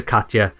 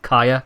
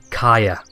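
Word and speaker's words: Caja: Okay, so in the first game we called her Katja, because I'm pretty sure when we first met her that's exactly what she said her name was, but it's actually pronounced Kaya.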